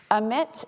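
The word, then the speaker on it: AMITT: this is a screenshot of the omit framework it's spelled a-m-i-t-t emit is similar to the mitre framework because it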